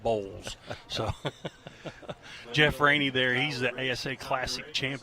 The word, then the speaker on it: Boyles: On the screen, folks can see it's spelled Boyles, but it's pronounced B-O-W-L-S. It's Bowles.